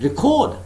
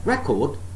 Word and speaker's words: record: to say it as record, and if it is a verb, I have to say record. So the second syllable is stressed if I am using the word as a verb.